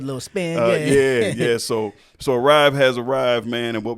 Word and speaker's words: ERYVE: Am I pronouncing it right? Is it ERYVE or ERYVE? Yeah. It's ERYVE. Okay.